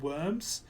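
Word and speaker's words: wyrm: They're called worms, spelt with a Y, W-Y-R-M.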